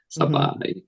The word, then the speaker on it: Sabaj: so at the end it's j it's like saai um yeah okay wonderful wonderful but uh so